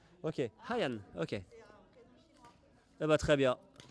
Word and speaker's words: Hayian: Comme s'il y avait un H? Oui, il y a un H devant. H-A-I. Ah oui, c'est vrai qu'il y a un H. Oui, c'est Hayan.